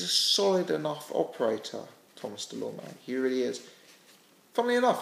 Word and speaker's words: Dulorme: I think, Thomas, I've heard his name pronounced Dulorme. I think Dulorme seems to be the consensus.